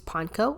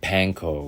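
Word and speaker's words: panko: so that's why panco is breadcrumbs and so pank will be the correct pronunciation over let's say something like Pano which is probably sort of the Americanized version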